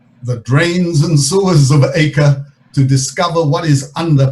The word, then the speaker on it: Akko: acre above and the acre below and i'm saying acre but the proper pronunciation in uh israel of this city is ako the crusaders called it